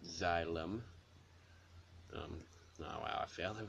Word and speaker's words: Xylem: That's how you pronounce it, Xylem.